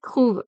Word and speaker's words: trouves: je trouve தான் சொல்றோம், அதே மாதிரி il trouve தான் சொல்றோம், அதே மாதிரி tu trouves தான் சொல்றோம், அது மாதிரி plurielல சொல்லிக்கலையும் il trouve தான் சொல்றோம்.